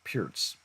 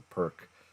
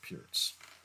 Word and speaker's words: Pirc: pronounce it as a perk defense as well. I've seen it both ways, but I think the actual player that it's named after, his name is pronounced Pierce.